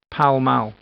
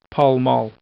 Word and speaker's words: Pall Mall: be called after the game it is usually pronounced power mal hello some people say Pall Mall temeraire Street this street is named after a